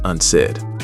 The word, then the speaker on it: unsaid: phrase to be left unsaid. And in a longer one, some things are better left unsaid. Meaning sometimes you just shouldn't say something. The stress is on the second syllable. Unsaid, not unsaid.